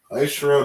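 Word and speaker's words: עשרה: Aishara doesn't have any characters that connect, right? So you fully put the I, all right? That's how you pronounce I. You have a Shah, right? The Shah, and then you have a Ra. Okay, so that's a case where nothing connects. You don't drop any syllables.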